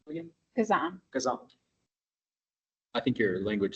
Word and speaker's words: Kazan: Kazan.